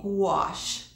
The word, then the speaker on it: gouache: new medium for me, gouache. And yeah, that's a funny word, isn't it? Gouache, like G before the word wash, but that's not how you spell it.